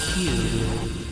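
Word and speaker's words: 九: Seek a code that carries a Q. So, so in Japanese in Japan Q is how you pronounce nine in Japanese.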